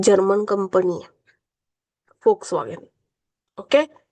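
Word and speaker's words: Volkswagen: Woakes नाही म्हणत, फोक्स वॅगन उच्चार आहे याचा. कारण की ही जर्मन कंपनी आहे, फोक्स वॅगन.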